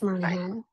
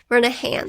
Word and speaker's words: Murnaghan: Mahan. Mahan. Okay. The G is silent.